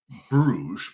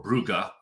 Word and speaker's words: Brugge: You want to highlight a matchup between Sporting and Bruges or Brugge, depending on how you want to pronounce it.